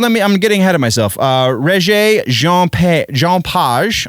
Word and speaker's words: Regé-Jean Page: Regé-Jean Page, I believe is how you would pronounce that in French, from the Bridgerton show